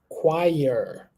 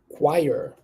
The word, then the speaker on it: choir: three all right we going to say choir choir can you repeat after me choir this might be a new word to you